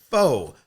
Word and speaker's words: pho: refueling, sweatpants, tacos, margaritas, pho, hot showers. Is it pho or is it foo? I always say that wrong. Did I say it right, pho? Pho.